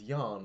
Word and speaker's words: Jan: Mr J's like man his name is Jan hi Jan let's see if you can destroy us from the inside out anyway but he pronounced it as Yan but okay anyway our